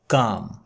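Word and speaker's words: calm: व्यापारी का गधा वाज काम शांत था काम का मतलब होता है शांत ध्यान दीजिएगा इसमें एल साइलेंट है एस दे वर पासिंग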